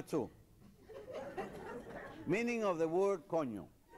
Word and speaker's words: coño: And it's pronounced coño. Coño.